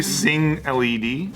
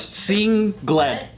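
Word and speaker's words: Sengled: record that wasn't single it might be sing led no it's seeing glen yeah that's that's how they say pronounce it like oh interesting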